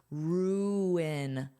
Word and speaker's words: ruin: Notice that pronunciation. We have oo in. You need to pronounce these vowels separately. Ruin, ruin, ruin, ruin.